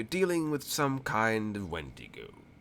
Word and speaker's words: wendigo: the statues as depicting a wendigo or at Wendy go if you want to pronounce it properly hmm because wendigo are